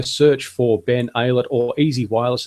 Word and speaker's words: EZI Wireless: You've got my Twitter handle down there, Ben Aylett, but you can also search for Ben Aylett or Easy Wireless, and that's spelled EZI Wireless.